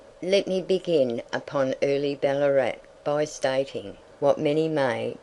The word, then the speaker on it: Ballarat: that the original and native name was Ballarat, or Ballarat, which was the pronunciation then, and for some years after. But our English way is to be put the emphasis on the first part of a polysyllabic word.